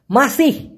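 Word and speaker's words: masih: মাসি, ওই যে মশা মাসি, ওইটার মতনই শোনা যায়, কিন্তু লাস্টে একটা হ আছে, মাসির পর হ। তো ওরা আমাদের মতো এত স্পষ্ট করে মাসি, ওই হটাকে ঠাসা না দিয়ে অনেক সময় মাসিই বলে, মাসি, কিন্তু লাস্টে কিন্তু একটা হয়ের আভাস আছে, মাসি এরকমটা হবে মূলত।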